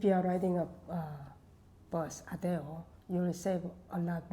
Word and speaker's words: ADO: It's Or what you call Adeo. Adeo, yeah. It's ADO is how you spell it.